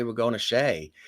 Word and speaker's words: Shea: was my namesake and it's spelled the same way so people knew how to pronounce my last name I still call it